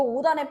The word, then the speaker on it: 옷 안에: 시옷이 디귿이 돼요. 그리고 나서 이 디귿이 초성으로 올라가서 발음이 된다라는 거야. 어떻게 발음돼? 5단에. 너 5단에 뭐 있어? 너 5단에 뭐 숨겼어? 너 오단에 벌레 들어갔어.